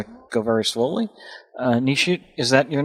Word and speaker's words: Nishit: so i'm going to go very slowly uh nishite is that your name that's right okay if i mispronounce it please let me know i'm not